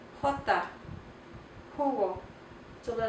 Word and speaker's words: jugo: Jota, jugo, jota, jugo. So the letter H, or the letter J, is like a H sound, a little bit more guttural, and it's pronounced jugo.